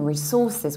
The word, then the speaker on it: resource: resources with s or sometimes you can say resource resource stressing the first level and this is actually a very typical American pronunciation because in the American accent we stressed the very first syllable re and then we have